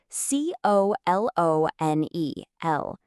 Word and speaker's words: colonel: Where did that R come from? There is no R in the spelling, but there it is.